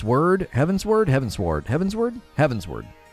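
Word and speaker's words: Heavensward: with four people including heaven sword and are heaven's word heaven's word heaven sword heaven's word heaven's word right how do you say that heaven's word like upward yeah i got it heaven's word and they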